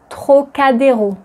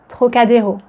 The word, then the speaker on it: Trocadéro: And another word that you might want to be able to pronounce correctly is Trocadéro. Trocadéro. Trocadéro. Trocadéro.